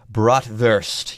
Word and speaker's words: Bratwurst: American I just said bratwurst let's be more properly German and say bratwurst yes make that W of V sound anyways with that folks